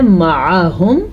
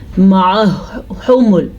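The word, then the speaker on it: مَعَهُمُ: یہ جو آپ کو ہا نظر آ رہی ہے یہ سینے سے نکلتی ہے، گلے سے اس کو نہیں نکالنا. اکثر لوگ اس کو پڑھتے ہیں معہمل، معہمل، یا پڑھتے ہیں معہمل، دونوں غلط ہیں.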